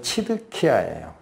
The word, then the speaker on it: 시드기야: 근데 이 시드기야라는 말은 원래 발음은 치드키야예요. 히브리어로.